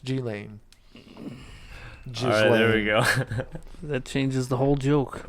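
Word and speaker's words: Ghislaine: s and her name is silent meaning it's pronounced G lane that changes the whole joke that's horrible I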